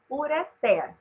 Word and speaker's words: ureter: Então, se nós pronunciássemos ureter, teria que ter acento, porque seria paroxítona terminada em R. A forma correta de pronunciar é ureter.